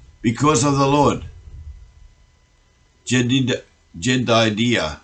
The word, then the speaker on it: Jedidiah: And he sent by the hand of Nathan the prophet, and called his name Jedidah, because of the Lord. Jedidiah is better pronunciation.